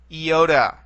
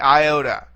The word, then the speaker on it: iota: now we come to the eota or the Iota okay it looks like the English I and it has an i sound to it an e sound to it all right